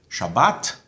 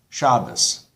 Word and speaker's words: Shabbat: the second last syllable so in for example modern Israeli Ebru you say Shabbat and you say mean haggis adore emphasis on the last syllable in Ashkenazi pronunciation Shabbos min hug Sid or Mitzvah on the second blast second last syllable that's one difference against